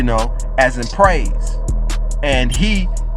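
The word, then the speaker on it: ה: as in Praise and he is pronounced like hey but in everything that shows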